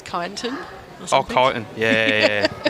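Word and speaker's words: Kyneton: I got absolutely roasted on the way out for calling it kineton. Apparently it's kiton.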